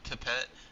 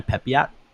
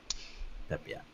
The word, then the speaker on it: Pepiot: Ryan, Ryan Pipette versus Framber Valdez. It's actually Ryan Pepiot. Pepe- Yeah, Are you sure? yeah, Pepiot.